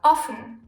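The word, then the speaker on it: Offen: If we add another F to it, the O suddenly becomes short, and we have Ofen.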